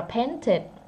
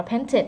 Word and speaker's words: painted: Còn đây paint thêm đi vào đọc là painted. Chữ này đọc là painted nha, tại vì nó tận cùng là tờ, chỉ có hai chữ mình được nói thôi.